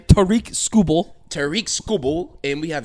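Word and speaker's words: Tarik Skubal: Tariq Skubal.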